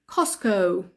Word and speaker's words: Costco: think we call it Costco so the T cost Co we don't pronounce the T we just say cos